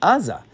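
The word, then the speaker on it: Azza: It's just spelled ain z olive which you would pronounce without the vav as aza.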